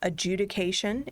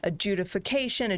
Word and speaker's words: adjudication: i think that we should point out um adjudication is in fact the word um i have heard virtually no one ever pronounce it correctly we people call in and